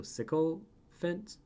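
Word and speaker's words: sycophants: see here jen says psychophants is pronounced like sicko in the end of elephant so sickle fent it is a person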